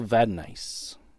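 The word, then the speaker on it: Vadnais: Uh Reggie Leech, got Jill Mallo, Gary Smith, Bob Stewart, and Carol Vanise. That's how you pronounce it.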